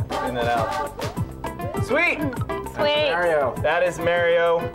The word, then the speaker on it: Mario: Do you guys want to see some Mario Brothers for the new Super Mario Brothers?